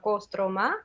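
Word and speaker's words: Кострома: quieren la que no tiene el acento se pronuncia como aunque si yo digo a mi ciudad se llama kostromá pero en ruso le llamamos trama castro y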